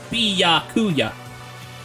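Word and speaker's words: Byakuya: coup in lower case the only stress is on the yah the first jar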